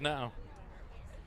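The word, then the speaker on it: Ngo: Spelled N-G-O. Pronounced No.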